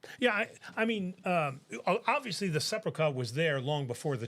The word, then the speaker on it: Sepulchre: I have no idea how the Church of the Holy Scepter? Sepulchre, probably. Is it sepulchre or scepter? I believe so. Yeah, but there's not a mosque there. Yeah, I mispronounced it. Sepulchre.